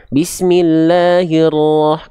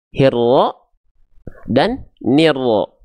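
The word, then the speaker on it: بسم الله الرحمن الرحيم: Nah, bukan he dan ne. Jadi yang tadi kita baca itu seringkali gini bacanya, hirro dan nirro. Bukan hirro dan nirro, teman-teman sekalian. Ya, itu nggak jelas vokal I-nya.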